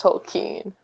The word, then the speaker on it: Tolkien: Tolkien like you wrote in a letter it's pronounced tokine and I mean I was crushed I'm a